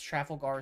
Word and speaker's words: Trafalgar: something yeah I mean you got it it's Trafalgar Square traffic Trafalgar I don't give a [